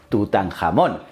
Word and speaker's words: Tutankamón: Y sí, chico, se pronuncia así, Tutankamón, aunque suene a bocata.